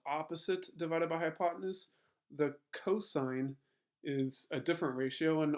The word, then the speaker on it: cosine: that you see on the calculator that is pronounced cosine si o si ne but we'll always abbreviate